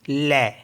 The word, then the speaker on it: lait: तो जैसे LAIT, तो इसको पढ़ते हम ले, ले, क्योंकि यहाँ पे टी साइलेंट होता है।